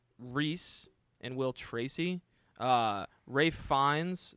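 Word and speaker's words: Ralph Fiennes: and will Tracy uh Ray fines that's how you say it's Rafe right it's Ray fines Ray fines Anya Taylor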